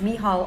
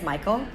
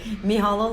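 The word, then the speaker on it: Mícheál: please say it correctly if you see it style you might think it's Michael but the EMEA are flimsy and the irish pronunciation is Nihal and sometimes still righted em eh AUL so you'll pronounce correctly me hallo Larry he's from Dublin and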